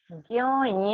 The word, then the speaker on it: ज्ञा: टू बाय 83 number का सूत्र है ज्यों या। अभी हमने बताया था कि ज्ञा का निर्माण ज या से होता है, अर्थात ज्या उसका सही उच्चारण है, तो उसी में से